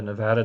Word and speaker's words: Nevada: I try to say it correctly. I practice Nevada, Nevada, Nevada. I promise you, I don't want to be one of those people that comes to your state and mispronounces it.